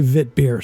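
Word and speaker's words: witbier: See, she did say Wit beer, so that's how it's pronounced.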